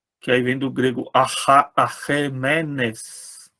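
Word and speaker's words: Ἀχαιμένης: Se você pronunciar esse ai na pronúncia restaurada, que é, né? Na pronúncia erasmiana a gente fala ai, mas provavelmente não era ai, né? Era é. Então seria mesmo Arremenes, que é essa dinastia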